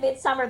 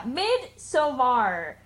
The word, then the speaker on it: Midsommar: If you pronounce it Midsummer, they're like, we're sorry, we can't sell you a ticket. You have to pronounce it correctly. So yeah, Midsommar is how it's supposed to be pronounced.